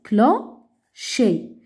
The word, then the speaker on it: clocher: Clocher. Clocher. Fais attention, C avec H se prononce ch.